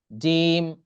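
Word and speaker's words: ج: জিহ্বার মাঝখানে উপরে যে তালু আছে তার সাথে লাগিয়ে এই 3টা হরফ উচ্চারণ হয় জিম, শিন, ইয়া। জিম, শিন, ইয়া।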